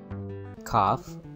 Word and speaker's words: calf: Cough. The first word is cough. The L is silent.